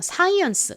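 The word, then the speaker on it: science: 읽어보면 사이언스가 됩니다 사이언스 한국식으로는 보통 사이언스 이렇게 표기를 하는데 어 실제로는 좀 세게 쌍시 발음이 됩니다 한번 더 따라해 보세요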